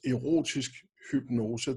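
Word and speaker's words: Erotisk Hypnose: It's pronounced Erotic Hypnose.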